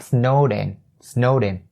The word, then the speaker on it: snowed in: keep in mind is snowed ends with a D sound, and you link it to in, you have snowed in, be snowed in.